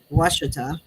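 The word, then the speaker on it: Ouachita: Well, with my experience, first I went to Lake Washita, and that's how you say that. It doesn't look like that, but that's how you say it.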